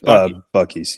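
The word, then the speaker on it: Buc-ee's: you know I've never I've never known how to pronounce that I always thought maybe bis but it's bu bies yeah bucky bucky Beaver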